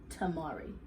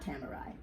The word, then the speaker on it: tamari: I've been advised that the correct pronunciation of this is organic Tamari, not Tamari. Like a samurai.